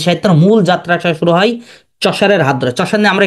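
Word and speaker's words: Chaucer: চশার কে বলেন তো এই চশার এটা উচ্চারণ হবে চশার চশার হলো মানে উনি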